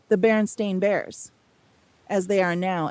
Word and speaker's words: Berenstain: But when it comes to things like the Berenstain Bears, as they are now, and the Berenstain